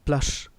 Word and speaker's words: plush: वन ऑफ my friend has अ प्लश bungalow. पहले एक बहुत ही खूबसूरत वर्ड आया है, इसे समझ लें. PLUSH इसका प्रोनाउंसिएशन है प्लश, तालव्य श SH के कारण.